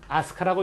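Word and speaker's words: 飛鳥: 그러니까 우리는 이것을 비조라고 읽는데 일본 놈들은 이것을 읽을 때 일본식으로 한자를 읽을 때 뭐라고? 아스카라고 읽는다 이거야. 그런데 아스카의 뜻이 뭐냐?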